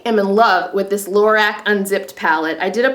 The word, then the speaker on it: Lorac: It's Lorac um, unzip palette and uh, you get a behindthescenes eye primer, which is one of my favorites.